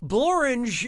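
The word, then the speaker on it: Blorenge: so what'd you pick bloringe is a real place and it really rhymes with orange but if you visit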